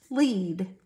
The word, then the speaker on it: lead: class down the hall led now wait a minute this word can also be pronounced with the long e sound to say look II lead he will lead you down the hall so it depends on the sentence around the word of if you're gonna use this word pronouncing it lead or lead you can say this word either way another one sound ah